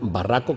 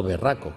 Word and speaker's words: barraco: registrado barraco y Puerco quier pronunciar barraco con a no berraco que es muy interesante